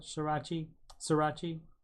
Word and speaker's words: sriracha: Sriracha. You don't pronounce the R there.